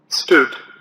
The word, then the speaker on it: stood: Stood. Stood. Stood. Stood. Stood. Stood is actually a word past form of the verb stand. The way to pronounce this word is stood.